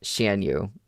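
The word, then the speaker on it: 咸鱼: Both are pronounced shenanu.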